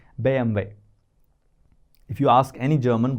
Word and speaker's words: BMW: German brand called BMW now can you say this in German If you have watched chapter 5 alphabet BM way BM that's how they say German car BM way they don't call it